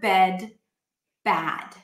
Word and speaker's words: bad: Let's talk about another vowel pair, and that is the bed, bad.